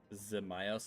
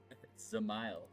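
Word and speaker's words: Dzemael: Zamile. The D is silent. So it's Zile. Not does, not Dmal. Zamile.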